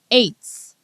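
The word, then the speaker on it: עץ: number 6086 it's it's eights just like you know the way you would pronounce the number eight right it's eight but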